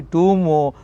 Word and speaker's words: tomb: This is the meaning of the tomb, not tomb. Tomb, B is a silent letter, my dear students.